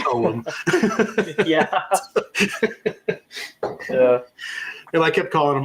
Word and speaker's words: Ogham: product on a video and I called them Ogham, and they were like, yeah, that's not how you say it. It's Ogham.